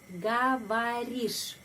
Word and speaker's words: говоришь: Penekanan pada huruf I karena itu huruf O ini dan huruf O ini bacanya A. Говоришь.